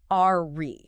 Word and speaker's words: awry: on the r y, awry. But functionally, the prefix is just a. It comes from an Old English word meaning to turn, the word wry. So, it's a and wry, uh r y e.